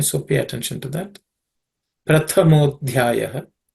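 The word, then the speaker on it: Prathamādhyāya: Prathamodhyaya. The Pratha, the second letter, Tha, is aspirated because the second consonant in the Tha Varga, or third class of consonants. So it's Tha, Prathamo, Dhyaya.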